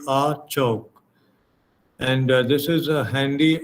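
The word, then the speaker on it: အခြောက်: uh the burmese language there's a word pronounced as a chalk a-c-h-a-u-k no the pronunciation would be a choke and this is a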